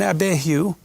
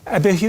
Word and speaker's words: Abihu: Went up Moses and Aaron, Nadab, and Abihu. How do you pronounce that? Does anyone know? Abihu. Abihu?